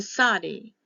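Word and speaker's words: tsadi: verse 137 is to Saudi t z a d e the King James version had t-z-a-d-d-i that all we're going to pay attention to is the TZ sometimes it's TS the branch of righteousness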